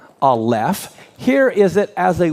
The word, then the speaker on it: Aleph: For example, you can hear when I say the letter Aleph, you hear the L and the F sound, right? So this is the letter Aleph.